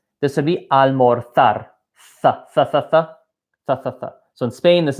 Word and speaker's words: almorzar: In every country except one, they're pronounced as the letter S. So this is not almorzar.